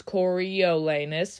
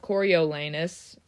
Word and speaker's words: Coriolanus: If you say it how it's spelled, it's Coriolanus, 5 syllables. But I also noticed a lot of Coriolanus, 4 syllables, which makes sense.